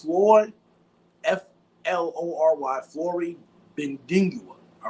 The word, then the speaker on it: Flory Bidunga: Now, if I didn't pronounce it correctly, I apologize. It's Flory, Flory, Flory Bidunga.